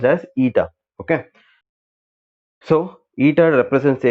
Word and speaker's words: eta: Okay, eta is nothing but this symbol is pronounced as eta.